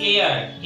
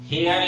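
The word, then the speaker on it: heir: एयर, एच ई आई आर, इसको हेयर या हायर नहीं पढ़ेंगे बल्कि एयर या आयर पढ़ेंगे, या एच साइलेंट है, इसका मतलब होता है वारिस या उत्तराधिकारी.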